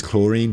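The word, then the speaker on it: Clorinde: okay her name is chlorine forget the D it's you don't the D is silent it's chlorine what's up chlorine Electro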